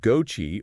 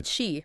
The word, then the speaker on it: Chi: on our list okay this one's called GOI or just Chi actually Chi like the Greek letter yep that's the one